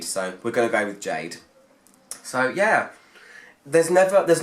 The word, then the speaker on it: Ga-de: Jade yeah it's spelt guarde but it's actually pronounced Jade I looked them up and looked at some of their adverts that they've done before online and they pronounce it Jade so we're going with Jade so yeah there's never there's not any surprises